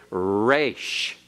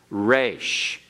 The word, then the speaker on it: resh: And the R in Hebrew, we kind of give a very smooth pronunciation. We say rot, rat, rate. We say all those things. But remember, in other languages, it's rolled a little bit. And in Hebrew, the resh is rolled a little bit. Not normally so much at the beginning, but especially internally.